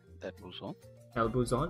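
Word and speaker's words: buzón: El Buzon? Yes. El Buzon, is that how you pronounce this? Yeah.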